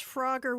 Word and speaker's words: Froga: oh his name's froga froga like kroger like the grocery store or froga like oh yeah it's like it's like kroger but froger but then like pronounced by a guy from boston oh okay thanks all right i think i can remember all that all right so it's uh it's frogger with the long o okay there you go